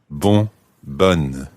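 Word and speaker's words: bonne: wouldn't say but and you sound the N it's a double n e as opposed to b-o-n and the masculine form b-o-n-n-e in the feminine form ban and of course in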